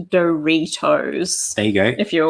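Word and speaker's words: Doritos: good point there that it's pronounced doe retos there you go if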